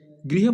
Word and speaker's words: गृह: सो ग्रह प्रवेश नहीं बोलना, तो इसको हम क्या बोलेंगे, इसका उच्चारण क्या करेंगे, गृह प्रवेश।